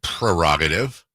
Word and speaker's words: prerogative: No one says prerogative. Say my prerogative. But there's a stupid R in there.